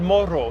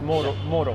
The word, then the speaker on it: Moro: Go to Churreria El Morro. Yes, I will be featuring that soon. Stay tuned. Oh wait, I'm pronouncing it as a double R, like if it was Puerto Rico. It's Moro.